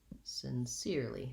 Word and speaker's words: sincerely: not going to be sincerely we don't have that other syllable so rewriting it sin seer sincerely short long short i'm sincerely grateful for